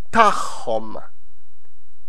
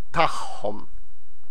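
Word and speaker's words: tagħhom: And theirs is tahom. Again, because you have an akka next to an I, so both of ein. So both of them are pronounced as h.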